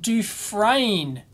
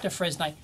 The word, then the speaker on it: Dufresne: It's Dufresne. I'm still probably getting it wrong. Anyway, it's silent S, not DeFresne.